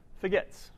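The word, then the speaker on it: fgets: nicely pronouncing that but F gets s it has a nice pronunciation forgets right so use forgets F get see what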